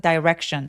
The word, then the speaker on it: direction: 그리고 direction 같은 경우는 dire이션으로 되게 많이 표현하시는 분도 계시는데요. direction보다는 direction. direction. 물론 틀린 발음은 아니에요. 그래서 direction 하셔도 되지만 너무 부각되지 않게 강세는 무조건 이음절이 오기 때문에 direction direction이라고 소린 내 주시고 혹은 뭐 c